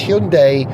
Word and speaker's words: Hyundai: hyund or hunde but it's definitely day more than die which I find a bit confusing because my reference point for Korean pronunciation is de do you remember de and they spelled their day d a e but Hyundai is D AI but they want us to call it day not D so it's Hyundai not Hyundai I know I've had